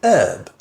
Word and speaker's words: herb: and again here generally native speakers will say the initial age however in some parts of the United States it is very common to say herb with a silent age this also applies to